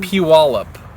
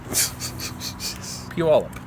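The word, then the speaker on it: Puyallup: It's almost like you're saying pew like instead of shoot or bang you say pew, right? Or instead of gun you say pew pew. Pew. Pew wallup.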